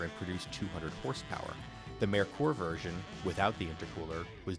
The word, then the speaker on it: Merkur: Most buyers said Merkur, as in Merica. The correct German pronunciation was closer to Merkur, as in "Hey Mer, you seen this weird European car Ford released?